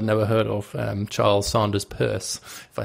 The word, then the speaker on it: Peirce: greatest philosopher I've never heard of, Charles Sanders Peirce, if I say his name correctly. Which you pronounce correctly.